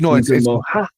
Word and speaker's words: Ngumoha: Yeah, but is there a stress? Is there like, because there's stress in words is where you put a stress on the syllable. So is it Ngumoha, for example, or Ngumoha? It's Ngumoha. It's Moha. So it's Ngumoha. So it's but is that equal? Moh and ha. So there's a stress there.